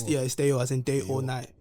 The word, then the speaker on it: Dayor: but Dayor is like how you'd pronounce that if it was like where the name's coming from.